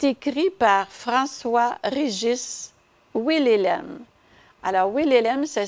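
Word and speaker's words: Wilhelem: Alors, Willelem, ça s'écrit W-I-L-H-E-L-E-M. Willelem.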